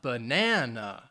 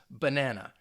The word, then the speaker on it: banana: the word banana and the stress is on that second syllable banana and again when we're talking about syllable stress you don't want to over emphasize it so it's not banana no it's just banana and i think when